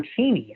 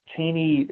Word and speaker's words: Cheney: And Strook thought he saw something of interest in young Cheney, or Cheney, actually, as they pronounced it back then. It was Cheney in later years, but Cheney at the time.